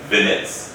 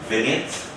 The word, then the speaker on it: vignette: Vinets. Am I pronouncing that correctly? Vinets. What? What is the correct pronunciation? Vietn vignette.